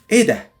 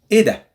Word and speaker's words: إيه ده: إيه ده. It's very fast. And there is no H, pronouncing H or emphasizing the H.